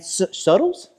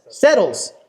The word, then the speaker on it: Settles: This is Suttles? Settles. Saying it right.